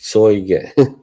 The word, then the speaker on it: Zeuge: Yeah, that's how you write it, but I think it's pronounced Zoiger.